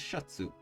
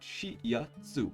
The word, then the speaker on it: シャツ: The example above is Shatsu. Based on our lessons so far, you'd look at this and read Shi-ya-tsu. However, because the Ya is written smaller, you merge the sound with the character before, in this case, Shi.